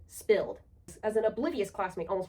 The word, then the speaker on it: SPLD: Tukey pronounced it spilled.